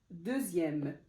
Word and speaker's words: deuxième: j'ai écrit ici dixième deuxième en fait c'est dans les la plupart c'est dans les nombres en fait quand le X se prononce z z et on va voir